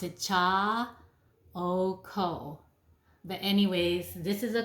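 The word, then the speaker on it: Chaokoh: I've been using this one for a very long time, and let me pronounce it, cha o ko.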